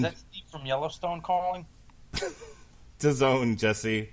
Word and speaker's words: DAZN: DAZN, Jesse. What does it rhyme with? Calzone. That's Sit down, right. Eat a calzone, watch a little DAZN.